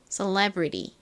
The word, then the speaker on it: celebrity: 싶으신 분들은 따라해 보세요 Celebrity 한 천천히 해 볼게요 brity 거의 레 bry에 가깝게 들립니다 레 brity이 한국식 발음이 셀레브리티가